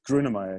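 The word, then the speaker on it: Grönemeyer: But the guy you're working with at the moment is Herbert Groenemeyer. Yeah. How do you pronounce it? Is that correct? Yeah, it's actually perfect. Grunemeyer, yeah.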